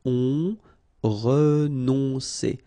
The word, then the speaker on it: renoncer: Renoncer. Okay, O and N together. On renoncer. Renoncer.